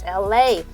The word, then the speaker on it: Elay: My name is Elay, pronounced like LA, like the city.